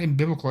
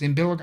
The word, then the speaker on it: umbilical: Imbilical. It's not imbol. It's umbilical.